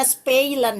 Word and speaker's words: spelen: Eh, tulisannya spelen tapi bacanya spilen ya.